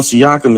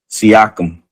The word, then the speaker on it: Siakam: Hey, how did the yeah, see, Pat, I said he like hating on Siakam is crazy.